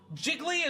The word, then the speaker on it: Jiggly: mean people are saying jiggly is three syllables I'm serious y'all seek help find God find god dude I'm serious bro find God jiggly is three syllables see